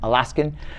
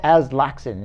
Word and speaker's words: Aslaksen: you because for years i pronounced your name alaskan you wouldn't be the first to call a lot of things as laxan is that's the correct pronunciation oh yeah it's close